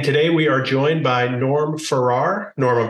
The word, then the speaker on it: Norm Farrar: And today we are joined by Norm Farrar. Norm, I'm pronouncing that right?